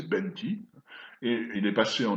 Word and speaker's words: penti: a pour la date le mot écrit penti, prononcé benti, et il est passé en nobine, donc le successeur du vieux nubien actuel, sous la forme fenti.